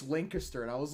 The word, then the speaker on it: Lancaster: How do you pronounce that? Lancaster. Lancaster.